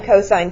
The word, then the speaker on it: cosine: and they say sin cos tan well it's not sin cos tan it's sine cosine tangent and si n is